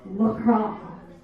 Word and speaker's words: LaCroix: And I was drinking a LaCroix, and he came up to me and he goes, you know it's pronounced LaCroix.